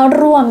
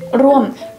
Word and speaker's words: ร่วม: ที นี้ คำ ว่า ร่วม เนี่ย แหละ ร่วม ใน ภาษา จีน น่ะ ไม่ มี สระ อ้วม แต่ ว่า เค้า ออก เสียง ได้ ชัด มาก เลย เข้า ร่วม เข้า ร่วม